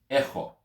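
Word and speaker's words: ἔχω: Now in Greek, the verb to have or I have is echo. Echo. Echo. Or if you can't pronounce that ch sound, echo.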